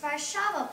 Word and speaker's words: Warszawa: Well, it was actually pronounced Warszawa, Poland.